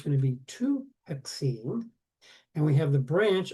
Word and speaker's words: hexene: There's an a here but not with alkenes. We leave that a off. Okay? Because it would be a hexaene. Put the a there. And no one pronounces the a. So they've over the years just eliminated the A.